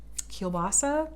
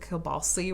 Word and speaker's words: kielbasa: even sauerkraut and um kielbasa though she always mispronounces it and calls it kill balsi which i think is so cute um i'm pretty sure that's a mispronunciation feel free to correct me if i'm wrong um but it's like